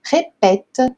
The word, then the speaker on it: répète: Então, esse caso aqui, para ter esse som de pé, ré, pé, eu preciso do acento contrário, o acento grave, tá bom? Então, je répète les mots.